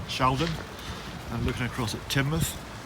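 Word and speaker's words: Teignmouth: and looking across at timoth our pronunciation has been uh given input from the locals so it's definitely Sheldon and it's definitely timou and this is the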